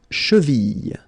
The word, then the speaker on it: cheville: La cheville. La cheville. Remember, double L like that after I.